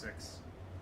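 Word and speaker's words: Sicks: Yeah, it's just pronounced 6.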